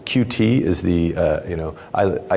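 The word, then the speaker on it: Qt: this we do this because of cute and I suppose pronounce its cutie is the you know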